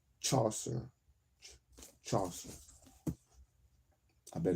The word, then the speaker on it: Chaucer: been reading the assigned Shawshire or genetics. I know that's not how you pronounce that word. Shawshire. Saucer. The assigned Chaucer.